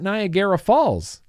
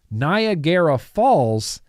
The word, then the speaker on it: Niagara Falls: he was building an RDA it was at nagera Falls it was at nagera Falls Addy tonei at Nar at naraya Falls Nar nagera sorry I can't believe I keep pronouncing that so wrong Niagara Falls Cisco was there with a prototype he had